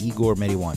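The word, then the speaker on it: Igor Marijuan: Igor Mediwan. It's like marijuana, but only Mediwan.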